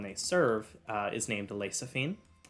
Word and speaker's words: Lexaphine: lady the one they serve uh is named lasaphine it's spelled l-e-x-a-p-h-i-n-e as well as the location of